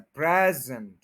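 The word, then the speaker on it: present: ये वर्ब बन गया अगर ये नाउन है तो फिर स्टार्ट में स्ट्रेस है प्रेजेंट और अगर ये वर्ब है प्रेजेंट तो फिर एंड पे स्ट्रेस है प्रेजेंट तो फर्स्ट क्या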